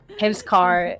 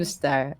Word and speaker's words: Hamsktar: And then I was like, and then everybody kept saying Hamstar, Hamscar, and it was like the K is silent. The K is silent. Ah, And it's okay, okay. Hamstar.